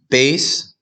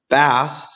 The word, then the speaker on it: bass: alright here's an example base sounds like ace a type of instrument right bass sounds like crass that's like a fish